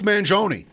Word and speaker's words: Mangione: Chuck Mangione.